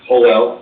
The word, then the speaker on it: Joel: name is hoell I pronounce my first name uh in Spanish ho it's felt like Joel so appreciate the clarification and